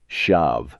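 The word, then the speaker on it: schav: In the early part of the century, there was a soup called shav. You pronounced it like shav.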